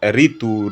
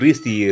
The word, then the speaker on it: ऋ: हिंदी में ऋ का शुद्ध प्रयोग नहीं होने के कारण र और इ के उच्चारण के रूप में प्रयोग में लाया जाता है। केवल ऋतु, ऋषि, ऋण आदि कुछ शब्दों के लेखन में ही इसका प्रयोग मिलता है। इसका उच्चारण ऋ होता है। इसका उच्चारण क्या होता है? ऐसे ऋ ऋ कहा जाता है।